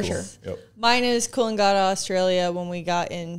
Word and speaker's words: Coolangatta: Coolangatta. Coolangatta.